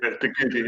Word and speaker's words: Te Kuiti: Sorry, let's get that pronunciation right. Yeah, Te Kuiti, yeah.